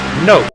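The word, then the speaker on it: Knope: my brother-in-law actually his his pet name spelled KN ope and he pronounced it nope now we always tease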